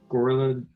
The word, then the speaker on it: Gorilladons: One are the gorilladons. Pronounce it Gorilladons, yes.